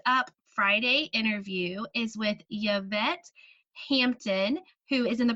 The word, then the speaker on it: Yvette: It's actually Yvette, is how you pronounce it, but I'll answer to Yvette.